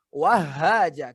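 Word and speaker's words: وهاجا: Karena tasdid itu harus dimasukkan. Dimasukkan ini ke ayat yang selanjutnya. Berarti didobelkan, didobelkan bacanya. Wahaja, jangan wahaja, tapi wahaja. Iya, Rabbil Allah. Apalagi habba. Ya, jadi wahaja, haknya double.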